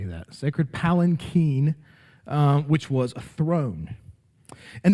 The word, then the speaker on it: palanquin: second purpose of the ark as a sacred palanquin, is how you say that, sacred palanquin, which was a throne.